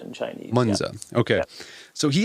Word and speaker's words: Mengzi: Is that how you pronounce it? Mencius, yeah. Mencius. Mengzi in Chinese. Mengzi.